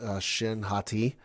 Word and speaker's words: Shin Hati: Baylan Skoll is a former Jedi, now is a mercenary with his apprentice, Shin Hati, I believe is how you pronounce the name, who rescues a, former Imperial Night Sister.